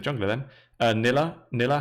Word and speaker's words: Nille: So I guess the correct way would be Nille, but yeah, most people say Nille, so you can use both.